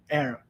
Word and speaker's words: heir: future King of England air ok successor and heir why because hitch with thirst we don't sound a hitch so if we don't